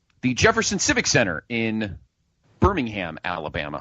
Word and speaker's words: Birmingham: I believe it's pronounced Birmingham. It's not Birmingham. We're not in England. It's Birmingham. Birmingham, it would be England. That's what I'm assuming.